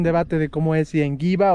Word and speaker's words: Ngigua: Por eso nosotros en Biofan siempre decimos mal llamado Popoloca, porque para nosotros el nombre correcto es el Enguigua. Pero algunos pueblos lo dicen Enguigua, porque es muy difícil de pronunciar, son una serie de consonantes juntas.